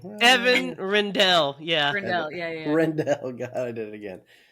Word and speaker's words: Rendell: But yeah, You just have to Evan, remember like, it has to rhyme with hell. That's how I remember it as Rindell.